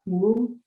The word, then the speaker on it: Houle: Pronounce my last name is Houle. There's been many different Houle. It's French.